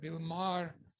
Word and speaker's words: Maher: How do you pronounce his name? His last name? Bill Maher. Bill Maher.